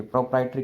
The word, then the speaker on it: proprietary: देखिए प्रोप्राइटरी की स्पेलिंग में एरर है।